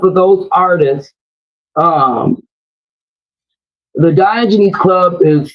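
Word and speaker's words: Diogenes: Um, the Diogen Club is spelled, you know, the D I it's spelled like Dio jeans.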